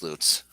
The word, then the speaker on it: Lutz: john mayberry road it's a town called l-u-t-z pronounce that for me oh uh lutz yeah but it should be watts it should be luts yes see that's that's what i'm talking about but it's not it's loots there is a there